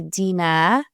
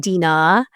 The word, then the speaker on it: Dinah: So my name is actually Dena It's not Dina. Um, there's a silent H in Arabic.